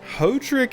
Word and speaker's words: Hodrick: Hodrick is not how I would have expected them to pronounce that. I would expect Hodrick. Kind of like Podrick.